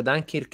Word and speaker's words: Dunkirk: di dunkirk dunkerque però a seconda della pronuncia dunkirk elin la provincia inglese dunkerque la pronuncia francese perché tecnicamente è la